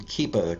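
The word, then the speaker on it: Kepa: Moving on, this one is from, I believe you pronounce this person's name Keepa, K-E-P-A, Keepa Freeman.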